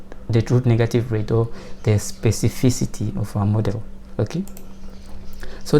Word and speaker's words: specificity: called SPAC spaces uh it's really hard to pronounce this word but it's called space specificity right so specificity of